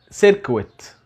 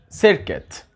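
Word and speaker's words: circuit: الدائرة الكهربية ما اسمهاش سيركويت. كتير مننا بينطقها غلط، لكن النطق الصحيح بتاعها سيركت.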